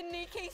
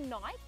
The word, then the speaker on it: Nike: this ad comes up 50% off at the Niki store. So what's Niki? Niki? Yeah. You know, the cute little active wear with the tick. Oh, doll, that's actually Nike.